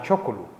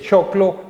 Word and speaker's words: choclo: Ese facilismo se lo podemos aplicar también a chocolo, ¿cierto? Sí. Que mire que es choclo, pero por esa pronunciación más bien la ponemos en choclo. Exactamente. ¿Cierto? Es más fácil chocolo que no choclo.